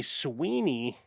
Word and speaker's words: Sweeney: Sydney Sweeney. Rhymes with weenie.